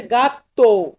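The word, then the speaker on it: gatto: এটাকে আমরা বলবো ফাঁচিলে জি দিয়ে হচ্ছে গাত্ত গাত্ত মানে হচ্ছে বিড়াল বিড়াল কে আমরা ইটালিয়ান ভাষাতে বলে থাকি গাত্ত গা তো শুরুতে আছে জি আক্কা আক্কা আক্কা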